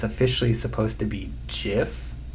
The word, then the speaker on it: GIF: officially supposed to be GIF, not GIF. I'm pretty sure it's short for graphics something something, which, why would you switch from a hard G sound to a soft, like, G or J sound?